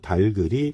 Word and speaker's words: 닭을: 합니다 여러분 되게 어색하죠 근데요 달글이 표준 발음이 맞습니다 이게 맞는 표현입니다 그래서 달글 달기 응 이렇게 발음을 해야 합니다 그래서 오늘 제일 강조한 것 달입니다 달글 달글 이렇게 발음해야 됩니다 자 여기서 어 선이